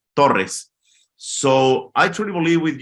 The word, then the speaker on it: Torrez: Mexican right so uh Torres you you pronounce in English but but in Spanish you pronounce Torres so I truly believe